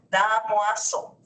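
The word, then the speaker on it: Damoiseau: Se pronuncia así, ya es francés, damoso.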